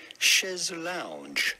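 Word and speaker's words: chaise longue: And he said that he had this old chaise long? So the original phrase was chaise long, but the spelling and the pronunciation have been modified to be more pronounceable, I suppose, in English, to become chaise lounge.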